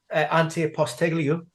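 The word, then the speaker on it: Ange Postecoglou: say it on the stream all right yeah auntie apostolio wonderful wonderful um somebody said just call him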